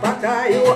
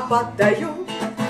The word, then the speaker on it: Паттайю: А то то ударение не зная, называет Паттайю. А я тебе, мой милый, повторю, не Паттайю, а Паттайю.